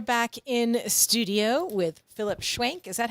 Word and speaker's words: Schwenk: All right, we are back in studio with Phillip Schwenk.